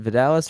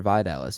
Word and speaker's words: Vidales: And then you can find me at Instagram, Letterboxd, and Twitter at Vidalis. VIDALES. Am I pronouncing it wrong? Is it Vidalis or Vidalis?